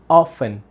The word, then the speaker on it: often: say I often now the pronunciation is important in case right T is mute so you say how often right how often sometimes